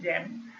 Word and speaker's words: XAMPP: Under jam directory you have XAMPP. It is pronounced as a jam, and inside this jam